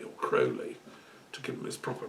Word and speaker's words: Crowley: who developed it was a chap called Aleister Crowley or Crowley to give him his proper pronunciation he was an English magus occultist active